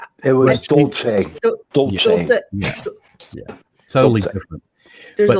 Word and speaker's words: Dulce: it Area 54 or 51, or was it Deuce? It was Dolce. Dulce. Yeah, totally different. There's a lot of different pronunciations.